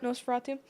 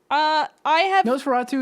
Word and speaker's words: Nosferatu: Nosferatu. 25 December is when that's coming out. It's basically a remake of the 1922 vampire film, and it should follow a similar plot. Mm-hmm. Nosferatu is a really good classic horror movie too.